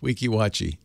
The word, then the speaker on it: Weeki Wachee: how about that actually Kevin says I didn't spell it phonetically that's how it's spelled Weeki Wachee it's it's just spelled phonetically 8888 ask Leo maybe